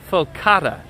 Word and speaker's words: focaccia: No, not focaccia. It's faux. Is Donna trying to tell us what it's called? Focaccia. Focaccia. There's no R in the Italian pronunciation on this, and there's no R I think in the I was word.